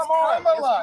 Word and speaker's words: Kamala: Let me actually pronounce her name right. Kamala Harris. If Kamala. you said Nancy Pelosi. It's Kamala.